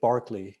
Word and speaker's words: Berkeley: named after a man george barkley in the british pronunciation an anglican priest a